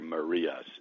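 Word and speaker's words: Marías: not have heard of Javier maras M IAS with the accent on the eye who's one of the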